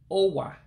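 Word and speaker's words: ụwa: To say globe in Igbo would be Owa globe. Owa globe. Again, Owa globe. That letter that looks like a U with a dot underneath it, you pronounce it just like an O in English.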